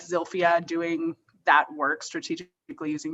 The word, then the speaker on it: Zilphia: telling us like who zofia is and actually if i am mispronouncing her name and where the emphasis is um i believe it's zilphia although some uh her sister called her zolfa um so uh you